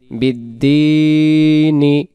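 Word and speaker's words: بِالدِّينِ: এই জন্য তখন এই জেরটাকে আর পড়া লাগবে না, তখন উচ্চারণ হবে বিদ্দিন।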